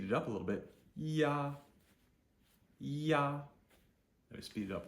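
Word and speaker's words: ia: to I a and I a is pronounced like y a yah yah if you think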